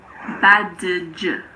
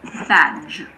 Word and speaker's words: badge: D is silent before the letter G. Badge. It's not badge. It's just badge. DG is like the J in jam.